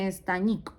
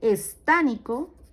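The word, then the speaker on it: estánnico: Entonces, no se dice estañoso ni estañico, no, se dice estánico, estánico o estanoso, estánico o estanoso, ¿listo?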